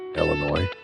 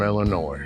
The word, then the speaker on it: Illinois: don't like that one we don't pronounce the S that's correct you know